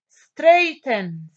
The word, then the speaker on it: straighten: Straighten, straighten. AI. And not see straighten, GH is silent.